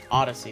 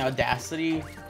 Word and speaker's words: Odyssey: want to say wrong I said it right earlier Odyssey there you go I keep saying audacity because this guy came